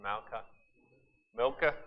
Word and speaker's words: Milcah: Milcah?